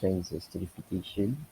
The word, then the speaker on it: transesterification: process that i perform and transfer sterification is pronounced transesterification it is a revisible reaction in which one